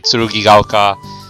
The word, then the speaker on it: 剣ヶ丘: Yeah, but it's pronounced as Tsurugigaoka. Yeah. ええ。では頼みましたよ。 Alright, we'll do our best to make everyone in Tsurugigaoka, understand about the change.